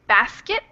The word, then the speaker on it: basket: like in the word basket. And I'll put that here. Basket usually doesn't have a full T sound, but it's kind of a stop in your throat.